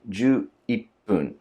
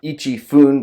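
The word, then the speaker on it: 十一分: So to say 11th minute would be ju ippun, because it has a sound change. It's not ichi fun, but ippun.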